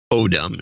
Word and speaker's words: Odom: Odom is, yes, I got that, I think, is the correct pronunciation. Since you seem to mispronounce wrong again, I think it was autumn last time.